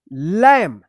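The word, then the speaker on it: lamb: बी है। तो बी क्या होगा? साइलेंट होगा। तो इसको क्या पढ़ेंगे? लैम।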